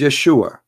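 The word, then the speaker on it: ישוע: pronounce the correct word the correct word in the hebrew is yeshua as simple as that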